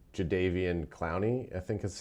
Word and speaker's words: Clowney: And I think like when we look at adding someone like Javian Clowney, I think is how is that his proper pronunciation?